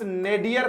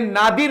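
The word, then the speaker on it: nadir: और इसके अपोजिट की बात करें तो आप इस नेडियर को याद ही रखना दोस्तों, यह नादिर नहीं है, फिर से कह रहा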